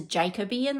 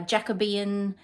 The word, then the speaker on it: Jacobean: here it's uh Jacobian I think I pronounced a Jacoby in the last time which is wrong uh Jacobian Carnation biscorn You by